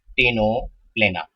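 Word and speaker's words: Ctenoplana: Okay, इसको English में हम लिखेंगे तो इसमें सी है, ये साइलेंट रहता है, टीनोप्लेना, इसका नाम होता है।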